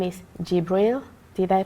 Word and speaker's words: Gibril: His name is Gibril. Did I pronounce it right? Okay. Yes. Welcome to the show, Gibril. Good to be here. Do you want to introduce yourself? Yes. Hello everybody, my name is Gibril.